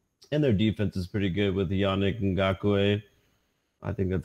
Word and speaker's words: Yannick Ngakoue: So, and their defense is pretty good with Yannick Ngakoue.